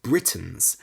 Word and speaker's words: Briton: the Celts were called Britain spelled b-r-i-t-o-n confusingly it's pronounced the same as the name of the country Britain today we still consider